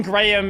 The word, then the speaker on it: Graham: The H in Graham is more of like a It's a very subtle modifier of the a like graham graham.